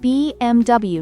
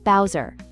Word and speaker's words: BMW: BMW is pronounced BMW, not Bowser.